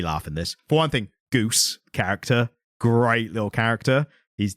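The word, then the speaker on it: Ghüs: yeah but no it it does a very clever way of telling you how it's pronounced CU he says the name just written like you reading the comic and you just he written and then robot the fourth goes Goose like Goose no no goose and then that's how it tells you that that's how it's pronounced by someone getting it wrong but the spelling is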